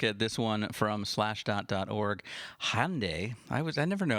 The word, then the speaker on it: Hyundai: According to the internet, it is pronounced Hyundai. Hyundai.